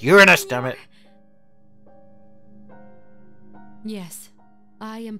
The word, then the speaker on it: Uranus: I'm glad you pronounced it that way, because I'm sick and tired of kids always saying, "Oh, it's Uranus." And you're like, oh, fuck off. It's Uranus, damn it.